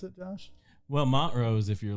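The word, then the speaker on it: Montrose: the corner how do you how do you pronounce it Josh well Mont Rose if you're like if you're an old like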